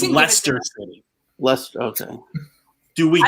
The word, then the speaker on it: Leicester: It's like Learcaster or something like that.